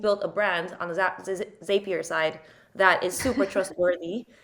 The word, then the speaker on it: Zapier: may be safe here I heard one of the founders say it's it's zapier it rhymes with happier because it makes oh